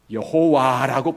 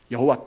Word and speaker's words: 여호와: 하나님 이름을 함부로 부르지 않기 위해서 숨겼는데, 연구해 본 결과 그 이름을 여호와라고 부르는 거죠. 여호와, 또 다른 표현으로는 야훼, 똑같은 4문자를 보고 발음은 약간 다른 거죠.